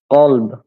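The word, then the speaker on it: كلب: কালব, হ্যাঁ, এই যে কালব যদি দেন কাফ, কালব, কালব মানে হচ্ছে কুত্তা। তাহলে যদি আপনি কফের উপরে কা উচ্চারণ করিয়ে এভাবে বলেন, যদি কালব বলেন তাহলে সেটা হয়ে যাবে কুত্তা হয়ে যাবে। হ্যাঁ, কিন্তু মূলত সেটা হবে কলব।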